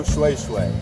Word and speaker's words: shweshwe: Bo shwe shwe. Shwe shwe. Shwe, not nay nay.